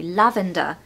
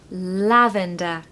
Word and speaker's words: lavender: Pronunciation tip, stress the first syllable. So lav, lavender. Lavender, and there's a schwa on the end, of course, because it ends in er, so you're going to say lavender, not lavender.